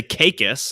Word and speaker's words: Caicos: The locals say Caicos, I learned today, Turks and Caicos.